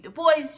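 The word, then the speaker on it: Du Bois: way or French version he did want you to pronounce the s and so that's why I say web de boys just for those who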